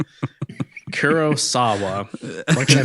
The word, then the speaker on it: Kurosawa: Jacob asked Galain ended up how Gain ended up looking like a oneeyed character from a Kurasawa. Oh my god. Kurosawa.